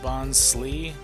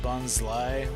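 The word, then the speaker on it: Bonsly: Similarly, Bonsley is pronounced Bonsley or is pronounced Bonsai when he catches his own. I think it's Bonsley. I don't think it's Bonsai.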